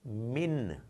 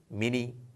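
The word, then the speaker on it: من: So it's min. You know, it's not mini, mina, minu. It's min, as if it comes to a halt.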